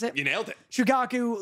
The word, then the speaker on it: Shukaku: just like like shukaku right that's how you pronounce it you nailed it shukaku like one tailed beast obviously the first um